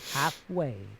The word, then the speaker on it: halfway: The route writing on collect the letters of the word halfway in the proper order. Remember the L is silent.